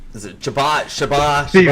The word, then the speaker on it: Chabot: Is it Chabot? Chabot? Steven, you say it. It it's Chabot. The T is silent. Chabot, okay.